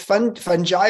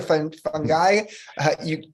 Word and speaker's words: fungi: So is it fungi or fungi? What do you think? People pronounce it both ways. I swing both ways, but either way is valid.